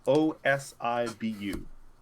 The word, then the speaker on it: Osibu: So is the motto Saibu? Well, it's spelled It's spelled Osibu. Osibu. Osibu? Osibu. That sounds good to me. Osibu? Osibu. Osibu. Osibu. Osibu. That's a little easier.